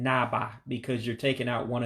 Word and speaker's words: na-agba: Notice I didn't pronounce it as na-agba. I said na-ba.